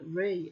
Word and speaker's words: Re: See, I always thought Ray was Ra, but here they've pronounced it Re, R-E. Ray or Ra? It's confusing, isn't it? I guess it's interchangeable depending on what dialect.